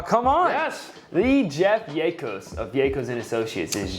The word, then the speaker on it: Yacos: while but it's funny it's not like tacos a lot of people think that long a Diego's yacos yes good job what